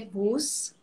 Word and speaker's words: Buss: último nome se lê Bus.